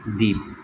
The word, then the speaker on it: دیپ: پہلا لفظ ہے دیپ۔ اب دیپ کا تلفظ ظاہر کرنے کے لیے مصنف نے چھوٹی یہ ڈالی ہوئی ہے، جو کہ اس بات کی علامت ہوتی ہے کہ یہاں پر یائے معروف ہے، یائے مجہول نہیں ہے۔ اور دیپ کا معنی